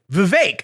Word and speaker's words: Vivek: Christian God for forgiveness Vivek again rhymes with cake all candidates should do